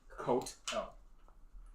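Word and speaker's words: catl: But it's pronounced coat L.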